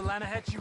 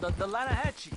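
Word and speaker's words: Lannahechee: the other day I rolled down through the Lana hexie River I caught some beautiful steelhead trout you mean the Lana no no Lana hacci it runs right near here yeah for this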